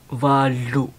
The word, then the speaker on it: valu: It's valu. See? L-U. The same like the number 3. Valu. V-A-L-U. But L-U behind, not lu, but lu.